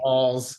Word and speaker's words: Walz: Walls.